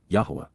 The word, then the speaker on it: Yahweh: even miraculous fulfillments yah Yahweh the proper pronunciation of the name of eloah God as directed in